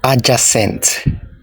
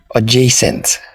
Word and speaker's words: adjacent: Do you say adjacent? It's wrong, not adjacent. It is pronounced as adjacent.